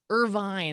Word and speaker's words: Irvine: Give a shout out to Ed, and also we've got KM6KJA from is it Irving or Irvine? Irvine, I believe.